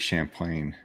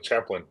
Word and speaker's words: Champlain: the new the Lake Champlain yeah you said it right I wasn't I kept saying Lake Chaplin I wanted to say